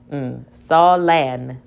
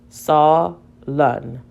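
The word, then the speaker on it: sullen: Let's try with the short vowel. Solen. That doesn't make sense. Let's try it with the schwa sound. Solen.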